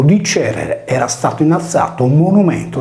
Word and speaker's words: Cerere: La divinità protettrice della cerealicoltura, Cerere, deve quindi essere il suo nome, poiché la palatale ce di Cerere si pronunciava come la velare che di Cherrere.